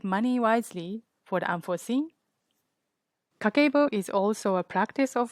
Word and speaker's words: Kakeibo: kakabo pronounced ka ke bo it's japanese household financial